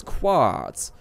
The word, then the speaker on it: quartz: It's weird that we don't pronounce the Q in that. It's quartz.